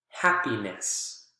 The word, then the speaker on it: happiness: Examples: happy, happiness, happy, happiness. You can see the strong syllable is still the first one in both of these.